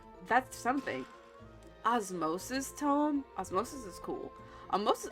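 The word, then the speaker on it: Osmose: this word before I was seeing how you pronounce it it's Osmos yes Osmos okay anyways spent too much time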